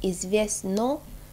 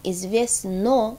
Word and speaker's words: известно: известна for women, and известно for middle. So notice that известна and известна for middle and female, they are pronounced very similarly. But the spelling is different. For the middle form, известно is spelled with an O.